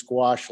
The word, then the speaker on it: gouache: I think I pronounced gouache correctly.